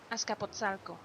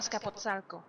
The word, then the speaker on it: Azcapotzalco: Pronunciation. That was... I clicked the wrong button. Azcapotzalco. Okay, that's not at all what I thought. Azcapotzalco. Azcapotzalco.